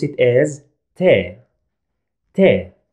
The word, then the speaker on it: ت: we pronounce it as te te t sound in english like in this word